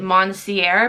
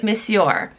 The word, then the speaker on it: Monsieur: In that video, I pronounced it Monsieur because I was like just sounding it out, like I was reading it how it looks like it should be said, but it's actually Monsieur.